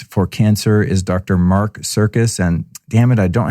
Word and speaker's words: Sircus: Mark Sircus, and his last name is not spelled like the circus that's mean to animals. It's Dr. Mark Sircus, Sircus.